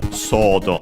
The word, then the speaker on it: ソード: Yes, accented on the first one, so sword, sodo.